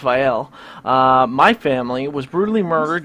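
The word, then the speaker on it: Vael: Vial family in Starkhaven, and yes, it is pronounced Vial.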